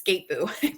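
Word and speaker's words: Skattebo: Google says it's Skateboo. Cam Skateboo. Yeah. That's not even how they're saying it on ESPN. So good for you. That's what the pronunciation was. So maybe it's wrong, but that's what it said.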